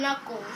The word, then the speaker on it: Knuckles: but don't forget guys the K is silent and Knuckles because if you if if you thought the K wasn't sounding it would have been couples Dominic I just told